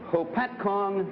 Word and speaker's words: Hopatcong: Frank Smith, a salesman and repairman from Lake Hopatcong, New Jersey.